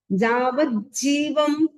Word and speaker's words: जावज्जीवम: जावज्जीवम double ज है, जावज्जीवम सुसाहुनो गुरुणो।